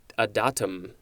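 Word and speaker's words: adytum: well it's spelled a-d-y-t-u-m i would want to say a dittum or a daitem but according to the uh pronunciation i think it's just a datum or something close to that this is a noun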